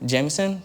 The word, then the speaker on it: JMSN: Jameson?